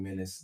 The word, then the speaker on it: Menaxe: my name is young menace that's minutes with x so when you spell it you got to take the c i don't throw that x in there you know what i'm